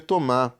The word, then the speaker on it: Thomas: Thomas. Então, Thomas aqui, né? A gente não fala o S, porque consoante final a gente não fala, como eu expliquei anteriormente.